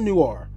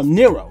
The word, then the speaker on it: Nero: It's not Noir. Nero, there we go.